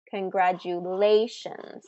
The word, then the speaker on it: congratulations: Advertise, estimate, crocodile, congratulations. So that's fourth syllable stress in congratulations.